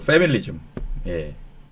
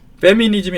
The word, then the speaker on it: 패밀리즘: 이렇게 말하고 싶은 거예요 패밀리즘 가족주의 페미니즘이 아니에요 발음을 잘 해야 됩니다 요새는이 패밀리즘 가족주의 그룹은